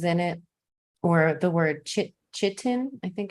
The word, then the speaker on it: chitin: If you see anything in your food called sustainable, it could have bugs in it, or the word chitin, I think it's pronounced, which is a chemical that is toxic to humans, comes from bugs.